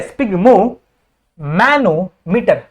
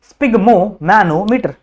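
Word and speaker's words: sphygmomanometer: pronounce नहीं कर पाते इसको प्रोनाउंस कैसे कर करना है बच्चों स्पिग मो ठीक है ये है दिस इज द स्पिग मो ठीक है स्पिग मो मैनोमीटर समझा स्पिग मो मैनोमीटर सही है आप लोग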